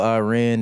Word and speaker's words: Iran: You're saying it wrong. It's Iran. Cuz during the World Cup, one of the journalists said, "I ran." And the dude was like, "You're not going to sit up here and mispronounce my country."